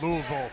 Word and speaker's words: Louisville: the fans over in Louisville it's Louisville not Louisville by the way yeah I said it right I know I'm just just